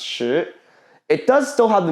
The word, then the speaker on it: 食: But in Mandarin, the word sick, this verb over here, it's pronounced shi.